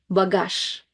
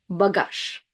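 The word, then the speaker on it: багаж: The letter Z is one of those words that is affected by the reading rule. And if it's at the very end of the word, we don't put that much voice into it. So it sounds more like sh, bagage, bagage.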